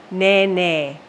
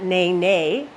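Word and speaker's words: nēnē: when we all know ne ne yeah and it's not ne ne it's NE NE for our Goose the Hawaiian Goose ne ne all right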